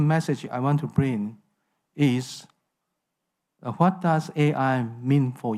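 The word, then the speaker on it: 愛: I want to bring is what does AI mean for you I is Chinese word for love in Chinese this word is pronounced I in s AI is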